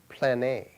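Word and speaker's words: πλάνη: And in fact, it's interesting that the Greek word that is interpreted as error is pronounced plane. What's that sound like? Plan A.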